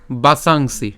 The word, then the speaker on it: বাসাংসি: থেকে একটু খেয়াল করুন প্রথমে উচ্চারণ হচ্ছে কি বাসাংসি ঠিক আছে বাসাংসি এখানে দন্তস উচ্চারণ স এর মত হলে আমরা অনুস্বার পর্যন্ত উচ্চারণ করেছি বাসাং পর্যন্ত উচ্চারণ করে তারপরে সি উচ্চারণ করছি তাহলে যদি পুরোটি যদি একসাথে উচ্চারণ করি কেমন হচ্ছে বাসাংসি ঠিক আছে বাসাংসি জিরনানি